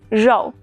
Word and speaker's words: 肉: Meat in Chinese is 肉.